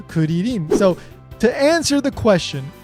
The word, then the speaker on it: Krillin: Even though in English we pronounce it as krillin we come back to kurin.